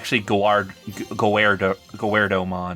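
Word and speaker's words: Guardromon: It's actually Gowardomon, not Gardramon.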